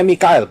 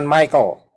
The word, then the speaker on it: Mikael: terima kasih karena itu Mikael bacanya Mikael bukan Michael salah Michael Mel ya m nya